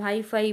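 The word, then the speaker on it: hyphae: उसको हम हाईफाई pronunciate करते हैं।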